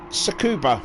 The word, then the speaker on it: Tsukuba: Tsukuba. Yeah, the T silent. That's right, yes. We were live.